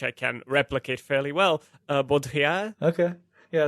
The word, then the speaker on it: Baudrillard: Baudrillard. I pull it from my sort of non-existent French accent, but which I can replicate fairly well. Baudrillard.